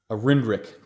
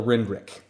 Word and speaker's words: RNDRC: I know it's pronounced RNDRC, but my Canadian accent makes me fluff muddle that up a lot every time I try to say it. So in my world, it's called a Rindrick.